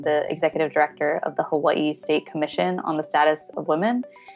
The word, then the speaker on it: Hawaii: things they have in Hawaii. Although I think I'm pronouncing it wrong now, because I think you pronounced it differently. Yeah, so Hawaii, it's, you pronounce both the I's. Hawaii, yeah.